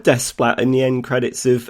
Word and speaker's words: Desplat: i remember historically you always knew how to pronounce the composers like after years i think i was saying alexander desplat but he's alexandra yeah he's called despat in the end credits of um moonrise kingdom